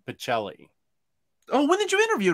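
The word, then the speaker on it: Pichelli: whitehead colton whitehead yeah the cha is a k sound in italian but i don't know how sarah pronounces her name specifically uh on uh omnidog's vault with my interview with her she said pacelli oh when did you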